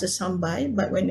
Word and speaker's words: sambal: For example, the word sambai is pronounced as sambai, but when it's written out as sambal.